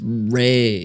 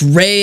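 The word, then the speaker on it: Rei: national anthem is pronounced Ray I am not in detain all right sorry about that Reay like Ray aonami from I almost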